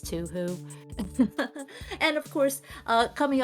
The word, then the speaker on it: Touhou: a discussion about what the proper way to pronounce Touhou is don't tell anyone I said it's to who and of course uh